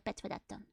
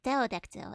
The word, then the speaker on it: pterodactyl: Don't pronounce the P in tail. Oh, right, pterodactyl. That's the one, not petrodactyl.